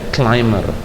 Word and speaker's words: climber: ding menjadi kliming ramya Climber menjadi bacanya claimer dan ada beberapa yang